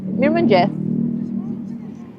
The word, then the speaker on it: mirëmëngjes: Mirëmëngjes.